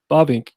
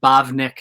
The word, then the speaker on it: Bavinck: overview of who Herman Bovink is? Yeah, sure. Or Herman Bavinck, as newbies often say. They can't say his name, so they're like Bavink.